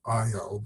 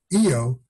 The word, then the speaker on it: Io: planet Mercury and finally that's how you pronounce that by the way I don't think it's called IO but AO has many active volcanoes